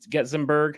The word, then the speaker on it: Getzenberg: for everybody who doesn't know uh later getting getzemberg am i pronouncing that correctly you got it it's a